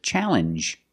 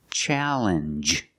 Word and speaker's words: challenge: the same sound um this word too challenge makes the same sound the regular n plus the G sound challenge what is a challenge